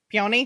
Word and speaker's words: peony: I can never pronounce that word. Peony.